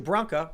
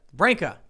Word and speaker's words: Branca: Andrew Branca. Branca, is it? Which one is it? Branca. Branca.